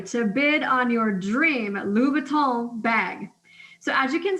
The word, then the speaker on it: Louis Vuitton: So yeah, I got about 20 minutes to bid on these awesome items, Colorado, Wisconsin, and the Louis Vuitton.